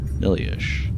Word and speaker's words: Nihliesh: Inside, am I pronouncing that right? Maybe it's Nihliesh. Nihliesh, yes.